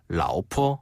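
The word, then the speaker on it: 老婆: 라오스 할 때 라오. 맞아요. 그리고 그다음에 포. 포는 가볍게 점 찍듯이 포. 라오포.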